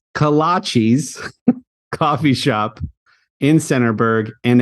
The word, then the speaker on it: kolache: little coffee shop it's kolaches coffee shop in Centerburg and an individual kolaches is called a kolache just one kolache plural kolaches not colon cheese sorry about that Robert